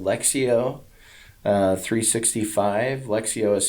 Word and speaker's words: Lectio: choose from so then there's another app called lexio uh 365. lexio is spelled l-e-c-t-i-o um so i did that not